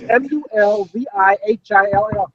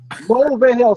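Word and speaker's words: Mulvihill: phonetically correct, right? It's Mulvihil. There's no hidden letters. It's, Mulvihil.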